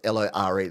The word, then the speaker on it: lore: So, you pronounce L O R E the same as L A W.